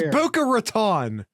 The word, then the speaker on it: Boca Raton: guest via your pronunciation it's Buca Raton I don't know which